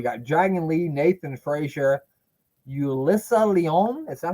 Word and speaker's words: Yulissa Leon: We got Dragon Lee, Nathan Frazier, Yulissa Leon.